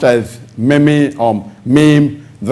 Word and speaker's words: meme: The spelling of the word is M-E-M-E. It's pronounced as meme, M-E-E-M, but the spelling is M-E-M-E. It's not pronounced as meme or meme.